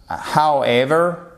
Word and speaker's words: however: Là, vous faites très attention à however, d'accord, parce que non seulement vous avez l'accentuation ici, mais en plus on prononce pas le W, il est transparent. However, ok, however, whereas, ok, là